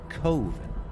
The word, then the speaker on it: Coven: last name the short film was called covet pronounced by mark as coven this particular short film and mark burchard himself